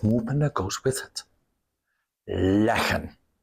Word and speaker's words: leggen: Leggen. Notice that here, the pronunciation is important. Liggen, static. Leggen, movement.